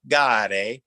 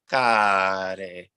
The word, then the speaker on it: Care: And for the C, make sure that it's not a big hard K sound, ka, but almost like if a C was born out of a hard G sound. So it's not gare and it's not care, but it's care.